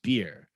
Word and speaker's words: Byrrh: lovely low alcohol cocktail beer yes pronounced beer comes from the russian